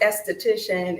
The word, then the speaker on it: aesthetician: you do that yes they're both uh pronounced esthetician it's just one is